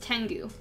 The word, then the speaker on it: Tengu: Yes, Tengu. There we go. That's like, I don't think it's actually pronounced Kengu.